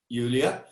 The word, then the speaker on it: Julia: could ask you a question and am i pronouncing your name right julia yeah julia so julie i love the character because she's